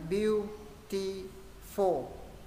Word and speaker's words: beautiful: Ví dụ cái này sẽ là beautiful. Quan trọng âm là beau. Đọc là a.